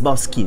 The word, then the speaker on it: Boschi: No, it's Boschi. It's Boschi. Boschi. Like, imagine you have a K, but in Italy we are cuckoo.